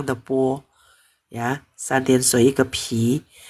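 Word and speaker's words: 皮: Kalau ini bacanya po, polang tepo ya, santian sui ke pi. Kalau tanpa air bacanya pi, artinya kulit.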